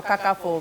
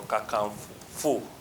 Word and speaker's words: Kakanfo: Are Ono Kakanfo, not for.